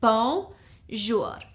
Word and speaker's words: bonjour: It's 2 syllables, bonjour.